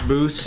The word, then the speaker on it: Boos: This is Boos. Rhymes with Yeah, Moose.